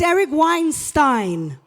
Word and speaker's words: Eric Weinstein: start by respecting the way this incredible gentleman pronounces his name, because I'm very sensitive about the topic. It's Eric Weinstein.